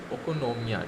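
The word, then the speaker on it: οἰκονομία: गया, जो कि हम ग्रीक वर्ड में उसको किस नाम से कैसे प्रोनाउंसिएट करते हैं, ओकोनोमिया, ठीक है।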